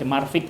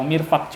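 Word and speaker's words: مرفق: Eh marfi marfi ini mirfaqini ggak jadi masalah tuh mau baca marfik atau mirfaq cuma yang lebih absoh lebih fasihat adalah mirfaq selesai itu tentang masalah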